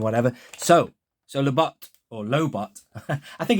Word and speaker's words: Lobot: heard anyone call him labot before but it's lobot ladies and gentlemen like robot isn't it surely let me